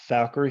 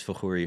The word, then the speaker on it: Fakhoury: warren because i know your name is valkyrie horn and i i don't know what's going